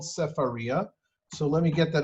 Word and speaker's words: Sefaria: As you can see, it's called Sefaria. Here we have the same text up here. That's how it's pronounced.